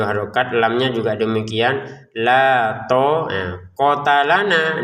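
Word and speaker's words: لَا طَاقَةَ لَنَا: Nah, to panjang, kof ta lam tidak panjang. Jadi la to kota lana gitu cara bacanya ya. Jangan dibaca panjang juga untuk taknya karena tidak ada alif.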